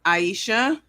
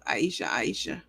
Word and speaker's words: Aisha: It's pronounced Aisha. Coach, like the song Aisha.